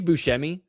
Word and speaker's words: Buscemi: Well, first off, he totally pronounces that it's Steve Buscemi, not Steve Bush.